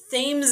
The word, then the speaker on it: Thames: You would think it's Thames, but it's actually from the Connecticut River, where the company was first started.